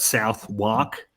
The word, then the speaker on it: Southwark: It's spelt South Wark, but pronounced Southwark.